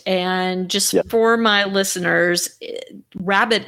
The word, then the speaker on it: Rhabit: just for my listeners rabbit is spelled are H a bi T so can you